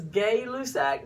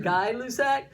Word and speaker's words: Gay-Lussac: Now the next one is called, it looks like it says Gay-Lussac, but it's French, and I think it's pronounced Guy-Lussac.